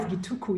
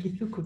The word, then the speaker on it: Githuku: Everybody says Gituku, you said Githuku, that's actually the right pronunciation.